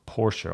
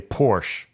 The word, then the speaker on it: Porsche: let's talk about Porsche love Porsche and it's pronounced Porsche okay for if I ever hear anybody say Porsche unsubscribe right away I don't want you on